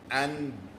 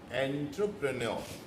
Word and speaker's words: entrepreneur: First thing first, it is not androprison. It is, the spelling is entrepreneurship. Entrepreneur. Here the spelling is entrepreneurship. But the pronunciation is entrepreneur.